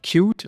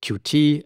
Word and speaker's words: Qt: And today I'm going to talk about cute or as I sometimes call it QT. I prefer QT, but most people call it cute. So maybe I switch between the two pronunciations, right?